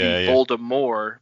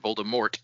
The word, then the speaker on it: Voldemort: JK Rowling like wanted it to be Voldemort, but because of the gigantic amount of people that pronounced it Voldemort, it became Voldemort.